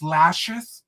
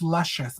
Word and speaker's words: Lushious: They think it's Lashes. I've had people be like, "Oh my God, Lashes." I'm like, "Bitch, no, I'm not. It's Lushious, bitch."